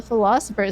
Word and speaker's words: Pholosopher: So the philosopher. So it's kind of funny. It sounds just like with an I.